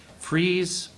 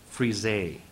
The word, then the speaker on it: frieze: There seem to be two acceptable pronunciations for this one. Frieze or frise.